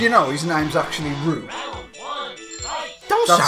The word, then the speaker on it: Ryu: Do you know his name's actually Ryu? Don't that's, sound right. That's it, because it's a real Japanese name and that's how you pronounce it.